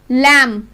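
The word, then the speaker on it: lamb: अगर M के बाद B लास्ट लेटर है तो हम उसको प्रोनाउंस B को साइलेंट बोलेंगे। टॉम, COMB, कॉम, लैम, थम, लिम और हनी कॉम, हनी कॉम। इसलिए हनी कॉम नहीं बोलेंगे, हनी कॉम, क्योंकि जो B है वो M के बाद लास्ट लेटर है, इसमें L के बाद M।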